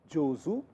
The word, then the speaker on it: 上手: Here it is pronounced as zu. Jozu.